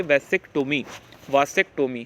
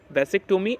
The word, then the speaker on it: vasectomy: Sterilisation procedure in the mail is called वैसेक्टोमी, इसे pronounce करेंगे वासेक्टोमी है ना।